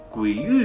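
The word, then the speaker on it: 鬼蜮: 鬼域啊，读音为鬼域，指害人的鬼和怪物。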